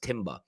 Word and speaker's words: Timber: I think his name is pronounced Timber.